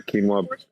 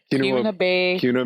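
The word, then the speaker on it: Keweenaw: so the kbic is a quinoa I'm saying it wrong Kuno Bay Indian Community yes and so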